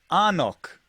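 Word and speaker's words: anCnoc: it's spelled funny right yeah like engnok it's pronounced arnock and the reason i know that is because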